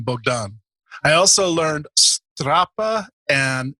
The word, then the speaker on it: Bogdan: great to have you you have to pronounce it in the true Romanian way which is bdan did I did I